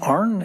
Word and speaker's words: Arn: Is it pronounced Arn, A-R-N? Yeah.